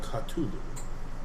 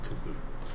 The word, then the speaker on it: Cthulhu: There are some disturbing connections between this Sandbat, the things on the Peloponnesian Islands, and Cthulhu. I go kind of white. Okay? What is... I assume he's I'm mispronouncing unfamiliar. Cthulhu.